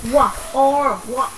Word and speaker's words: walk: Từ này không có âm L, chỉ có âm G này, âm O và âm K thôi. Walk.